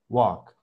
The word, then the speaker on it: walk: Ahora me marcaste mucho la A. La buena fue la primera. Esta segunda sonó mucho a A.